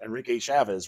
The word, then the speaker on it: Enrique Chavez: So Enrique Chavez, right? Is that how you pronounce it?